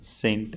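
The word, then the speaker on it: scent: अर्को एउटा हेरौँ होइन अर्को छ एउटा इक्जाम्पल सेन्ट होइन सेन्ट भनेको के हो अत्तर भन्छ नि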